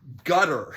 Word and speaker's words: Qatar: I always said Qatar. The proper pronunciation But we're now is learning the proper pronunciation is gutter.